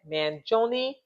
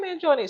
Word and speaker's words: Mangione: man I'm gonna see see if I can pronounce it right man Jon yay I said it right man Jon so basically he is being charged you guys